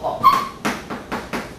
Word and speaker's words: 巩: 、曾巩，这个是读作巩；苏洵、苏轼、苏辙跟王安石啊。